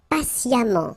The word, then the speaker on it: patiemment: Patient, and then patiemment. So as I told you, even if you write it E-M-M-E-N-T, phonetically it goes like amant, patiemment.